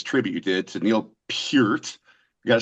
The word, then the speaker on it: Peart: We're going to talk about this song that you did, this tribute you did to Neil Peart.